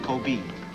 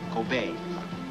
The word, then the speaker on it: Kobe: Gopher, It is not pronounced Kobe. It is pronounced Kobe. The E is pronounced A.